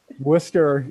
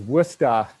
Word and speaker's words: Worcester: say that right boys worcester is how people from new york pronounce it if you're in massachusetts it's worcester masters of arts from the